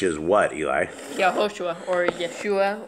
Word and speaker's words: Yeshua: Yahushua or Yeshua. How would you spell that?